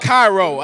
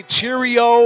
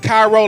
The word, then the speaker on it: Cairo: Cairo it's pronounced Cairo a lot of a lot of people say cheerio or Syria or I don't know what the but it's pronounced Cairo like Egypt like Egypt so just so y'all